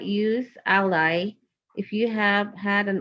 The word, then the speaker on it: Alli: It's Alli.